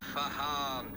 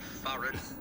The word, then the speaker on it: Farhan: knows, because when young Farhan came into the team, he gave me some elocution lessons, which I've saved, and I love playing this. It's Farhan, not Farron.